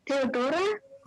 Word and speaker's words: Theodora: So yeah, am I pronouncing your name correctly? Theodora? Yep, right.